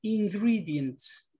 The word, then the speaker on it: ingredients: Esta palabra se pronuncia ingredients. Ingredients. Esta, la primera E que hay se pronuncia como una I.